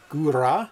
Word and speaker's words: Góra: Góra, slightly roll the R's.